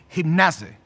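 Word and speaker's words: γύμναζε: Aquí la palabra ejercítate es una palabra en griego que se pronuncia como gimnase.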